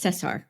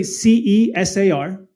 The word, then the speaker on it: Cesar: So Cesar is spelled Caesar, but it's Cesar. Yeah, it's actually CESAR. That's Cesar.